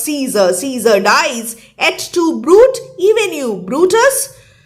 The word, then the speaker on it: Brute: Et tu, Brute, even you, Brutus. Brute in the Latin vocative case has two syllables.